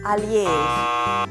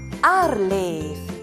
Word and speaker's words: ARLeF: Tu sapeviso che non si dice alief, ma arleef, e che non si dice arcobaleno, ma arc di San Marco.